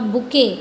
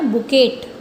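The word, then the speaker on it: bouquet: अब बुके, अब देखो उसको हम वैसे पढ़ने में क्या आएगा? बुकेट, लेकिन टी जो है वो इसमें साइलेंट है, तो क्या बोलेंगे इसको? बुके।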